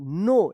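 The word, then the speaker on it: know: के एन ओ डब्ल्यू नो यहां पे डब्ल्यू भी साइलेंट है।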